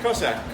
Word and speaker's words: Cosaque: people are from and so even though it's spelled differently just to remember Cossack coats the Cossack people in Eastern Europe debate done well there